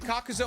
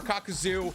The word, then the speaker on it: Kakuzu: talking about kakuzel and i don't care if you pronounce it kakuzo or kakuzu i'm probably going to